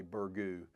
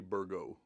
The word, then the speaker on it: Burgoo: um people will say burgu burgle that's what they always said was burgo we say bergo spelled with two o's but what I've always been told is the second o is silent down at our farm